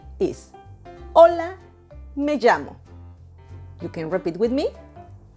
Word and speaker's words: llamo: Double L most often sound like the English letter Y, as in the word yellow, and yes is the